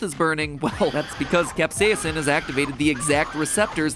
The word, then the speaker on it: capsaicin: the chemical capsaicin and yes i'm pronouncing it capsaicin because that's how miriam webster told me to pronounce it even though i have never once heard anyone in my life pronounce it that way capsaicin so if you